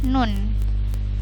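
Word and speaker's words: ن: Di sini ada nun. Ini huruf nun ini dibaca 6 harokat. 6 harokat tuh lama sekali ya. Jadi bacanya 6 harokat atau 6 ketukan. Bacanya nun, 6 harokat.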